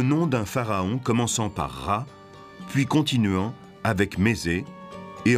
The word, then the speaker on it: Ra: En haut, c'est le disque du soleil, et Champollion sait qu'en copte, il se prononce Ra.